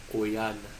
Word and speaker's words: quyana: So we say quyana, quyana.